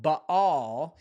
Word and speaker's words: Baal: Today is February 22, the 22nd of 2026, and tonight's episode is all about factor framework when Bail or pronounced also Bahal becomes the accusation.